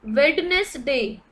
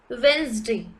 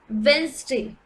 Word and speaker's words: Wednesday: is pizza it is pizza generally people say wednesday it is not wednesday it is wednesday it's wednesday generally people call it data data data data